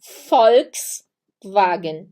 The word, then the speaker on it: Volkswagen: aqui a gente tem Volkswagen e sim tem o som de f o J se pronuncia